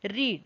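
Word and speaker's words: read: Next क्या है, रीड। रेड का जो रीड की जो पास्ट टेंस में जो फॉर्म होगी वो स्पेलिंग में तो रीड ही रहेगी, लेकिन हम इसे पढ़ते कैसे हैं, रेड।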